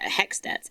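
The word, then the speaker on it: HECS: Um and yeah, there's uh there's the Hext H E Cs. It's just called Hex cuz that's how you pronounce it.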